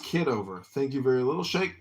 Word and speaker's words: Kitover: It's pronounced kiddover.